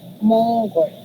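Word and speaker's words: 몽골: Next naman is sa upper part, you will read this as Mongol. Mongol. So, hindi siya naiiba sa kung ano yung mas madali siyang i-pronounce kaysa sa ibang country or nationality na binanggit kanina. So, in this part, you will say Mongol. Mongol.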